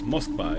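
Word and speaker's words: Москва: And yes, Moskva is how you say Moscow in Russian.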